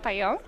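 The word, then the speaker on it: Pajak: it's pwba Pon D which is spelled p a j a k like my last name you say it Pon and yeah like you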